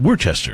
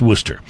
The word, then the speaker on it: Worcester: e ste R so if you live somewhere other than Massachusetts you'd be tempted to call it were Chester yeah and well it's pronounced Worcester and there's also a